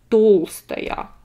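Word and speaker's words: Толстая: it's like that but if it's a woman natalia dolce here this ah would be stressed so if it's an adjective it would have been tolstaya big but the last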